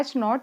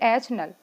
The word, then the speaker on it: H0: इसको हम कहते हैं H0 या फिर H नल। Okay, it is usually pronounced as H0 और H नल भी कहते हैं, क्योंकि ये जो है,